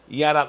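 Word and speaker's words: ירד: Yarad, olha como diz Yarad. Se escreve Yarad.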